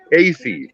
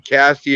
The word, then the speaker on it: Casey: i i'm so sorry it's pronounced kc all right casey we got you i will never call you cassie again if i do